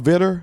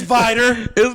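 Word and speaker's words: Vidor: So what's the small town vidder you speak of? I like how I immediately corrected just me. Uh it's Vider.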